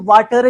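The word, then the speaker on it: water: क्या कहते हैं कि जब जो है आर से पहले वाउल्स आ जाएं तो आर क्या हो जाता है, साइलेंट। और आर अगर साइलेंट हो गया तो वाटर क्या हो जाएगा जी, वाटर।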